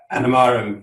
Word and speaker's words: Animarim: Is that the right pronunciation? Animarim, yes.